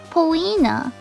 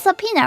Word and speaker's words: subpoena: Poena. What? That's not... Poena. That's not how you say it. Subpoenaing... because it's subpoena, right?